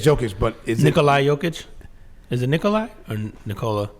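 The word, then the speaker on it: Nikola Jokić: Yeah, it's Jokic, but is Nikolai Jokic? Is it Nikolai or Nikola? Nikola Jokic.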